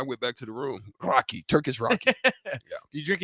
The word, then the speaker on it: raki: it's Turkish and it's oh it's called Turkish rocky rocky r-a-k-i listen ing Rocky like it it no it's pretty it's it's it's spelled r-a-k-i-raki right Turkish Rocky right but I'm